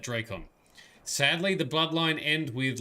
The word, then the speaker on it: Drakon: the time of emperor cordelius dracon draken actually we've learned that he pronounced that drakon sadly the bloodline end